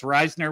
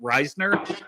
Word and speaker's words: Risner: Uh, Cincy James says it's Risner, which honestly that's how it's pronounced. Everybody I know around here, and there's several people I know, it's all pronounced Risner, and it's spelled the same way.